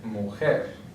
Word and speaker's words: mujer: The next one ends with a consonant. It's not an N or an S. So therefore it's going to be a palabra aguda. And the stress is going to be on the last syllable. So right here, mujer.